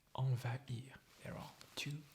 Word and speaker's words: envahir: You see, there is the nasal vowel sound, en, en. And then you have va-ir, and an H is between these both, or these two syllables. So you have to pronounce them separately, like envahir, envahir, envahir.